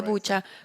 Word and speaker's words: Bucha: Bucha, se dice Bucha con CH.